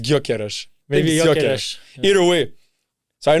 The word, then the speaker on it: Gyökeres: And also, let's put on Gyökeres. Gyökeres. I don't know if it's Gyökeres or Gyökeres.